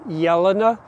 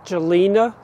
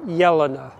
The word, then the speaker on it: Jelena: of people pronounce it jelena but mrs de belder from the count calm toot arboretum in belgium pronounced her name yelana that j was is pronounced like a y and this is a